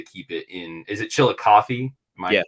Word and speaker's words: Chillicothe: Is it Chillicothe? Am I pronouncing that correctly?